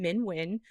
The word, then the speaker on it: Minh Huynh: so it's my name Min win but like you know men for the win it helps people pronounce my name um so yeah this